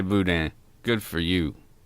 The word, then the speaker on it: boudin: Willie, you know how to say boudin. Good for you. It's your turn. Boudin? That wasn't bad. That wasn't bad. Say it in the mic. Come on. Say it. Boudin.